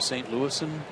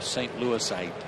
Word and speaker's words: St. Louisan: I mean, is that how you say that? A St. Louisan? Or did you just make that up? No, that's how you say it. I mean, I'm serious. It's just St. Louis. Not a St. Louisite. No, it's an N.